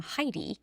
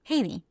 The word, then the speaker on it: Heidi: So you guys in English pronounce her name Heidi. But in Spanish, you pronounce that name Haiti.